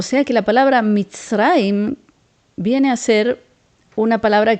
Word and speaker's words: מצרים: Y aquí tenemos que recordar cómo se dice Egipto en hebreo. Aquí dice Eretz Mitzrayim. Eretz quiere decir tierra. Mitzrayim es el nombre Egipto.